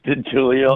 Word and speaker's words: DeGiulio: So DeGiulio, am I pronouncing that right? It's DeGiulio.